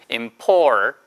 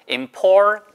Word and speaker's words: important: important. 해보세요. important. 근데 이 발음을, 트 발음을 먹기도 해요. important가 아니고 import 코로 나오게. important. import 하고 혀 끝을 천장에 붙이고 코로 이런 식으로 important, important.